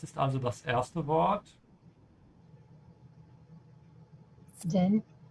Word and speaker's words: den: Den. Den. This is the den that has a long E.